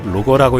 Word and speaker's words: LOGIR: 비궁은 영문으로 LOGIR 로거라고 읽는데 말 그대로 저가형 유도로켓이라 할 수 있겠습니다.